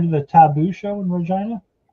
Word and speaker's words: Regina: Well, Regina is the city that rhymes with fun.